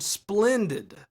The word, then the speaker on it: splendid: emphasize them as well, such as the word splendid. Splendin is the stress syllable and requires just a little extra room in order to emphasize it clearly.